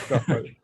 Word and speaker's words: Praful: And I think next we have Praful, who is gonna tell me how to pronounce his name so I don't embarrass myself again. That's correct. It's Praful.